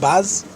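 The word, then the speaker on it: בז: Lishlol Sholav Alavos Vaz, that's how he pronounces it. Not Boz, but Baz.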